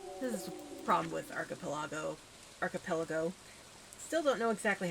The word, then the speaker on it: Archipelago: Second one was Archipelago. Okay. That's usually how I've heard it pronounced, but my brain still wants to say Archipelago, which is wrong.